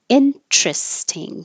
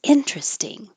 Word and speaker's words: interesting: So the first one is what I just said, interesting, 3 syllables, interesting. That's interesting. The second way is interesting, 4 syllables and keeping the T.